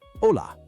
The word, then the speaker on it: hola: Notice how the H in ola is silent. It's pronounced like ola, similar to the ola in wave, but without the W.